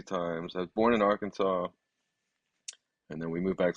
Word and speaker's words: Arkansas: So you grew up in a place called Little Rock in, how do I pronounce it? Arkansas.